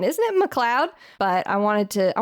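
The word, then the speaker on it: MacLeod: like oh his name is McLoud it's McLoud it's it's McLoud Andrews uh it's pronounced McLoud uh for shame my my apologies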